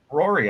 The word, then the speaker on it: Ruari: How do you pronounce his name? Rory, I think, right? Is it Rory? She looks Rory? I actually don't remember this. Are you sure it was me? Yeah, Rory.